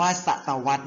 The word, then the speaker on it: ศตวรรษ: ศตวรรษ กัน นะ ครับ เด็ก ๆ อ่าน ว่า ศตวรรษ ใน ครับ ซึ่ง ศตวรรษ เป็น ช่วง เวลา 100